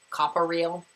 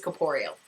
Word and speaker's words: corporeal: in harry potter and i'm pretty sure i pronounced it like copper real like a fool um i think it's corporeal hope so then she